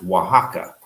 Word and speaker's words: Oaxaca: from us in oaxaca that's the other x it's o x a o but that's pronounced oaxaca uh that is the